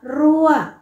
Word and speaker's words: รั้ว: จะ ออก เสียง โทร คำ ว่า รั้ว เป็น อักษร ต่ำ ผัน ด้วย วรรณยุกต์ โท ดัง นั้น จะ ออก เสียง ตรี นะ คะ เด็ก ๆ